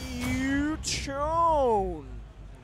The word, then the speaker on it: Shuton: It's pronounced Shuton. I promise.